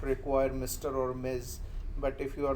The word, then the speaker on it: Ms: Uh remember this uh title MS that is pronounced Miz right and uh it should